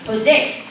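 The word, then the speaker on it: José: His friend pronounced it and told him that it was actually pronounced Jose. My dad thought that this was ridiculous. It was spelled with a J, not an H.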